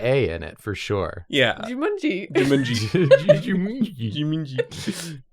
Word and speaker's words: Jumanji: We have to jumani it. Is that how it's pronounced? Why does that sound weird? Jumanji.